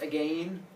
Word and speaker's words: again: and eat again and why pronounce the last word as again jacob that's frank and ryan nicely done because we're going to get to rhyme scheme coming up and so again it has to rhyme with lane if it went in the other order you'd have to change the pronunciation of lane they said i eat